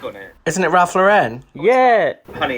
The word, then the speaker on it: Lauren: it isn't it ralph lauren yeah honey it's ralph lauren not lorraine it's ralph lauren isn't